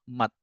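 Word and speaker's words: мать: ya kan ibu ibu itu kan tulisannya m a t myakisnak kalau eh apa t-nya kan bacanya t ya kan Tapi karena ini ada myak kisnak bacanya jadi Mat jadi agak kayak jadi itu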